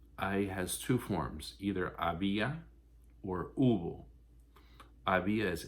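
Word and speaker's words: había: has two forms either abia or ib is h-a-b-i-a accent on the i ubo is h-u-b-o ooble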